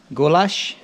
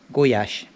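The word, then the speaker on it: gulyás: stus I've got the goulash as the English call it but actually in Hungarian it's pronounced guash boiling water Stir It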